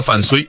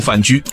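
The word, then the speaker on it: 范雎: 这里先插个话题，关于范雎的读音，剧中是读的范睢，但史学界一般认为是读范雎，这是 2 个不同的字，2 种发音，不同史书有不同的记载。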